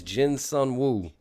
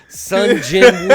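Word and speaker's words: Sung Jinwoo: name that everybody knows Jin Sun woo and he said it wrong and he said it's the name everybody Jin Sun woo Sun Jin woo all right just you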